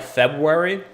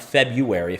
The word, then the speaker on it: February: So I would say especially like November through like February. That's a proper way to say February, not February, February.